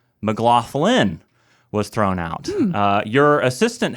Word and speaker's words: McLaughlin: know that Americans, and they were like, oh, McLaughlin. I'm like, no, McLaughlin. McLaughlin. So it's a good Scotch-Irish name, and I feel like it should be pronounced correctly.